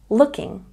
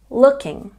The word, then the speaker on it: looking: with with with looking has a stress on the first syllable looking looking looking and keys say